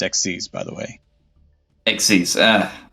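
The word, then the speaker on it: Xyz: 1900 defense it's pronounced exes by the way ex ah sorry yeah think of it like to exceed expectations I gotta yeah you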